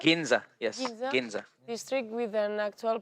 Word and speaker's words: Ginza: the heart of the ginza ginza you say ginseng ginza yes district with an actual park inside their